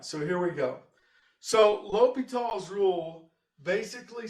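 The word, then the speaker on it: L'Hôpital: called indeterminate forms and l'hopital's rule looks like the hospital or something but it's pronounced l'hopital and that's just the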